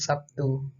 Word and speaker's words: Sabtu: Contoh kata Sabtu dalam bahasa Indonesia lazim diucapkan Sabtu. Terlihat bunyi B berubah menjadi bunyi P sebagai akibat dari pengaruh bunyi T.